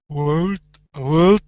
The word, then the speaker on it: would: Would shout. Would. There you go. Good. Now remember that the L is silent. You don't want to pronounce the L.